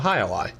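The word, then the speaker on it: Jai-Alai: Is that the Hi-Li? Yeah, it's the Hi-Li. Oh, the Hi-Li. Like the game, Hi-Li.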